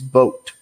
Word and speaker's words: Vogt: platoon with steven um i believe how you see his name is vote even though it has a g in it the g is silent um and stephen vogt